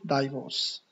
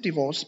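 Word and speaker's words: divorce: Some student pronounce it डाइवोर्स. Okay, how will you pronounce डिवोर्स? Since डिवोर्स became easier to obtain in Europe the डिवोर्स rate has gone up dramatically.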